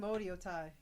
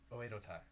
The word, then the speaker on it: Oedo Tai: Yeah, but you guys are Team Odio Tai. I also... Oedo Tai, isn't it? Oedo Tai. Oh my God, you got it right.